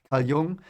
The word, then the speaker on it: Jung: in in uh um i don't know how you pronounce it in english but you know i will use the german pronunciation because i'm german so young and he uh was